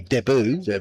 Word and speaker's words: debut: Very fine player this man making his sorry debut tonight or of course if we were in Australia making his sorry deboo that's how they say it is but yes